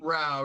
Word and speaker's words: Rau: Rau, yeah, it rhymes with cow.